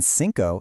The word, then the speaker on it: cinco: Notice how the C in cuatro sounds like a K, but in cinco it sounds like an S?